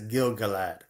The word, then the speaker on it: Gil-galad: And it's Gil-galad.